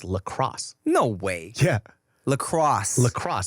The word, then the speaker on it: LaCroix: It's not even French. It's lacrosse, ho. Huh. It's not LaCroix. It's lacrosse.